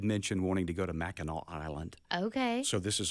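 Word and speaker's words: Mackinac: called it's it looks like MAAC but it's pronounced maol and I would highly recommend anybody going there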